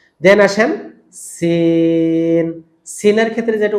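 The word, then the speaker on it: سين: দেন আসেন সিন। সিনের ক্ষেত্রে যেটা উচ্চারণ হয় এরকম একটা সাউন্ড হবে। সিনের শুরুটা এরকম হবে। হ্যাঁ, এটাকে সু সু শি শি এরকম করা যাবে না। সিন, ওকে, সিন, সিন।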